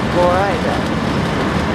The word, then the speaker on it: Florida: Spelled like Florida, but pronounced Florida.